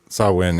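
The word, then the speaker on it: Samhain: So, yeah, decapitated or wandering spirits often appear in Oh, I'm going to mis mispronounce the other one. It's in sin. Sawin is correct.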